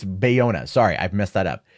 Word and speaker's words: Bayona: boy a now is at boyega or Buena am I saying it wrong it's Bayona sorry I've messed that